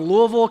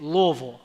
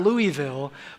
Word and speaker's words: Louisville: I am originally from Louisville Kentucky that's right that's how you say it Louisville right not Louisville not Louisville but Louisville Louisville Kentucky and um